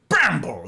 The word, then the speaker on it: Bramble: It's Bramble. It's two syllables instead of the one.